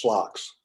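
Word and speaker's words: SLOCs: And oh, by the way, the Navy is pronounced slocks.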